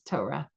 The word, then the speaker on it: Torah: And I spell it out for them, TOE.RAH, Torah. If you say Torah, you're like right away branding yourself as members of certain communities. So if you want to blend in the community like that they're seeking to blend in, if they're one of my students, then I spell it out for them, Torah, to say it that way.